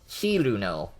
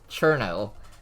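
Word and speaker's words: Cirno: So the actual way it should be is Chiruno or Chillno. What? Yeah, but then in Touhou 9, Zune spelled it wrong, so that got turned into Cherno. But then people say Cerno because it doesn't have the H.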